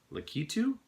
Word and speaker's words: Lakitu: found this this is the world of Nintendo lakitu as I is that how you pronounce it lakitu character so if you guys